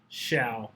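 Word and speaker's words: Shough: I just I think Howard, how do you pronounce it? Sha.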